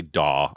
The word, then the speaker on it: DAW: worked on any daw which is the abbreviation some people say dawg i don't like saying no i think it sounds goofy so i spell it out but it's digital audio